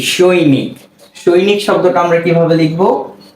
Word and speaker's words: সৈনিক: দন্ত স ঐকার সই, দন্ত ন রস্যিকার নি, সৈনি। এরপর যদি আমরা একটা ক লিখে দিই, তাহলেই হয়ে যাচ্ছে কি? সৈনিক।